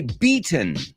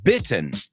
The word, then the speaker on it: beaten: So I think you want to say beaten, vencido, ganado, beaten. Eso sería B-E-A-T-E-N, no bitten.